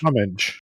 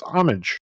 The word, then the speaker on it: homage: way to pronounce it the correct way to pronounce homage in american english is homage no it's homage come on this is